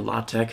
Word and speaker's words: LaTeX: I just have a latex document or la tech however you pronounce it opened up which is